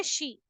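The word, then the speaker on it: 시: वही सेम चीज हम लोग कोरियन में आवर्स को बोलते हैं शी। जैसे हम लोग इंग्लिश में SHE लिखते हैं ना, शी इज अ गर्ल, तो वही वाली प्रोनाउंसिएशन है, सिंपल शी।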